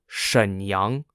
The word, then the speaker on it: Shenyang: in the Northeast which were the cities of Shenyang s-h-e-n-y-a-n-g jindrol j-i-n-z-h-o-u and Chong Chun c-h-a-n-g-c-h-u-n the